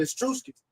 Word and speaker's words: Etruscans: Etruscans.